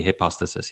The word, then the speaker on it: hypostasis: But in the singular, it would be hypostasis, yeah.